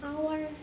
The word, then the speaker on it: hour: Karena hour ini adalah silent H atau huruf H yang tidak dibaca, maka pengucapannya tanpa diawali huruf H. Jadinya hour.